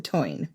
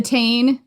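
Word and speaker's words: Táin: genre in Irish literature, the Toyn. We did an episode about the cattle raid of Cooley, and throughout it, we called it the Tain, which is not the correct pronunciation as far as I can tell.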